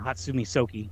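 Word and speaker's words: Hatsumi Sōke: back to Soki Hatsumi, or Hatsumi Soki is how you would pronounce it, and did the sword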